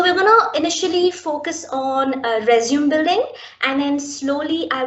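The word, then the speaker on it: résumé: So many of us, we first of all mispronounce the word resume, right? So it's not a resume, it is a resume. It's a French word, it's a resume.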